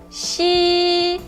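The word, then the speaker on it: 西: A palavra oeste se escreve assim no ideograma e a sua pronúncia em mandarim é primeiro tom. Xi.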